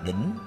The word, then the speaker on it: đảnh: chữ đề chú thích đảnh cũng đọc là đỉnh có nghĩa là chót